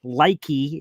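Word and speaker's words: Leki: Likey is how you pronounce that.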